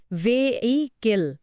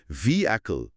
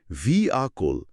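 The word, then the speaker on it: vehicle: অনেকে এটাকে ৩ ভাগে ভেঙে ভে-এই-কেল বলেন। ঠিক, কিন্তু এর সঠিক উচ্চারণ হল ভি অ্যাকল, মানে ভি আ কোল। মাঝখানের এইচ অক্ষরটা এখানে প্রায় অনুচ্চারিত।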